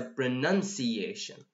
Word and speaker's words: pronunciation: actually it will work so it's not a pronunciation it's a pronunciation okay so if you are at home say pronunciation pronunciation pronunciation pronunciation it's not pronoun okay here we've got